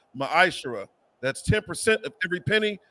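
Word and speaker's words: מַעֲשֵׂר: In the Hebrew, it's pronounced ma'ashara.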